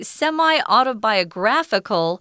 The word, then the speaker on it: semi-autobiographical: We're describing it as a semi-autobiographical. So the emphasis or the 重音 is on gra.